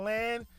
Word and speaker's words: Lan: I already told y'all that Lan rhymes with man because he's my man. Lan, my man.